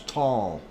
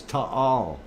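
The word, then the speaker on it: Taal: that it's pronounced as tall um so uh anyway uh when you hear the locals down there say it is to all and uh that is what it is it's two syllables um i guess they're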